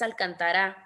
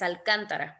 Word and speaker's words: Alcántara: el caso de de la ministra no es alcantara es Alcántara porque obviamente tiene el acento entonces tengan mucho cuidado